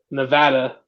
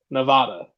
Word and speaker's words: Nevada: that if y'all remember never pronounced the state of Nevada Nevada it's Nevada anyone who tells otherwise ain't from there ain't from the area